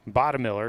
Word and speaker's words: Bottomiller: Bottom Miller, excuse me. I've been saying that name wrong. Waited for the PA guy to say it there.